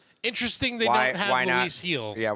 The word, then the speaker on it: Gil: Trust me, I for a while I thought it was Gill and I heard it pronounced on the Yankees broadcast.